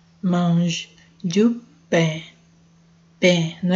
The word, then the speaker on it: pain: Não pronuncia o F não. E, porque tem o ET, é E. E mange du pain. Pain, não é pão, é pain.